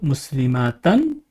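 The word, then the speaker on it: مسلمةً: two fatas and again the sound it produces is an we have muslimatan and you can see it is as if there is a noon with sukun at the end which is read muslima tan and then we have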